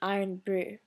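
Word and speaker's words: Irn-Bru: there's this Scottish drink called iron Brew it's spelled i-r-n hyphen Bru okay and it's a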